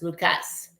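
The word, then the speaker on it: Lukes: I know it's it's spelled like L U ke like Luke's, but it's Lucas.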